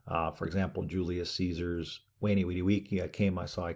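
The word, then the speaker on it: veni vidi vici: For example, Julius Caesar's Wani Widi Wiki, I came, I saw, I conquered. Kind of a mixture of the V and the U. Wani Widi Wiki.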